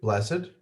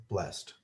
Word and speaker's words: blessed: that to show that there is an accent on that ed and so you do hear it otherwise if you are